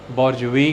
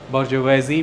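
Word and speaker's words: bourgeois: इसे आप बोर्जुआ भी कह सकते हैं, बोर्जुई भी कह सकते हैं, बोर्जुवेजी भी कह सकते हैं, बर्गोइज भी कह सकते हैं। जर्मन में ये बर्गर से आगे बर्गोइज हो जाता है। तो ये कई तरह से प्रोनाउंस किया जा सकता है।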